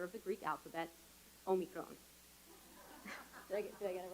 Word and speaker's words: omicron: a year i finally learned how to properly pronounce the 15th letter of the greek alphabet omicron did i get it right i am grateful